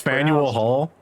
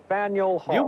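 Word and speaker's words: Faneuil Hall: Its name is spelled this way. Oh. Oh, that's Faniel Hall. Faniel Hall.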